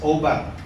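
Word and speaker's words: עָבַד: The Hebrew word is obad. Abad ang nakalagay doon, but sinabi nung binabasa ko, the pronunciation of this is obad.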